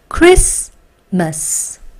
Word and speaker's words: Christmas: T는 발음되지 않아요. 그래서 여기까지 올게요. Chris. 다시 한 번. Chris. 좋아요. 그 다음에 M입니다. M, A, S니까 Must가 되겠죠. 합쳐 읽을게요. Christmas.